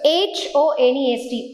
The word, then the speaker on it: honest: n e s t where the H is silent similarly when you talk